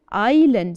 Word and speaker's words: island: another one so it starts with an i and the silent s do you remember the word with the silent s I lend Island so we have Island here anything else can you